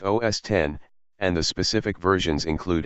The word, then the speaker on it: OS X: the recent versions are known as OS X pronounced OS 10 and the specific versions